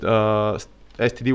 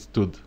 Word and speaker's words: std: entire standard library with std which is suppose people pronounce it stood like or stood or stood or something like this it's nobody says STD because of certain and medicinal reasons I guess so stood